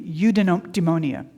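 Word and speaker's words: eudaimonia: It's it's udemonia. Do you know what udeonia means? Okay, it's a new word. Say it with me. Udemonia. Udeonia. It's not spelled how it sounds.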